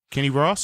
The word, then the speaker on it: Kenny Ross: is not day no it rhymes with boss Kenny Ross correct Kenny Rogers Kenny